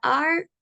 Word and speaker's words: are: con u Au are la palabra are en este caso nuevamente la e es muda no se pronuncia are solamente se pronuncia a